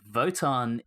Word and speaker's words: WOTAN: so in norse mythology voton is another name for odin so presumably the norse aspect is why vote on with the w is pronounced as if it has a v in the novelization so